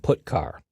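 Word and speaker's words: putchar: i o functions are git car and put car that's how i pronounce them git car fetches a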